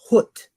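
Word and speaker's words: ḥwt: That's pronounced hut. Okay. Almost like saying hut. Okay. But hut. Okay. You know, when you push that W out of hut.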